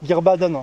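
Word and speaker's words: Guirbaden: Mais pour être sûr, laissons Sébastien prononcer ça comme il se doit. Gerbaden.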